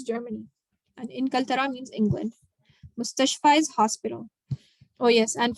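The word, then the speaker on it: مستشفى: Oh yes, and for Mustashfa, the main thing here is this ya is pronounced like an alif because it has no dots. No dots. When fi, for example, fi has dots, so it is pronounced with an e sound, fi. But without any dots on the ya, it's an a sound. So ala, ila, mustashfa.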